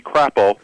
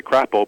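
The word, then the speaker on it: Crapaud: dad how do you pronounce the name of that town knowing that it couldn't be crapple um it is indeed it is that's how you say it it's actually what it's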